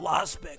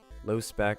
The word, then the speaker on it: Lospec: I guess so many people critique me like, you're saying it wrong, dude. It's not Lost Spec, it's low or whatever. So look it up. I think it's LOSPEC, low spec.